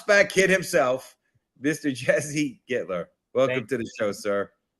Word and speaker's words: Gittler: All right, Jesse Gittler.